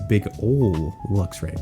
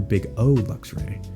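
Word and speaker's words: BigOLuxray: I thought it was big old Luxray, but you're big O Luxray.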